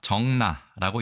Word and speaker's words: 적나: 오늘의 한자와 400의순 세 번째 시간이 단어에 대해서 알아봅니다.이 단어는 우리가 정나라고 읽습니다.